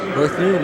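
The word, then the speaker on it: Berthiaume: I'll make sure I pronounce that French name correctly. Dan Berthume. Berthume, that's it.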